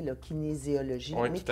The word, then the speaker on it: kinésiologie: Je suis curieuse, Kevin, rapidement, parce que là, je l'ai bien prononcé, là, kinésiologie.